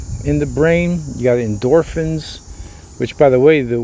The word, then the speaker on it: endorphins: pain pretty much and endorphins that's how we pronounce it right we don't say endorphine endorphins have the same characteristic